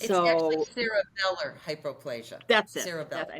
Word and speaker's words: cerebellar: It's actually So cerebellar hypoplasia.